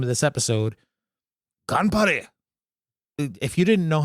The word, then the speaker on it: Ganbare: Ganbare. If you didn't know how to say that shit, you can do it in Japanese before today. You certainly learned how to say it today. Ganbare.